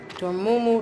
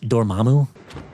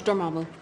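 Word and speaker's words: Dormammu: Dormumu, the cosmic conqueror. What the hell does that even mean? And by the way, it's pronounced Dormamu. It's Dormamu.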